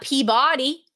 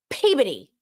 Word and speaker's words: Peabody: It's not Peabody. spelled Peabody, but it's Peabody.